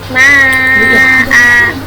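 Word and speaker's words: ماء: Maka bacanya jadi ma'a, atau biasanya ada yang ragu-ragu antara bingung ini panjang nggak ya, akhirnya bacanya begini ma'a. Jadi panjangnya 1 harokat, bukan 2 harokat, bukan juga pendek, tapi 1 harokat.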